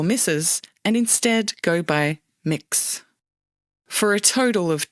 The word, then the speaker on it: Mx: How do you pronounce that? Mix.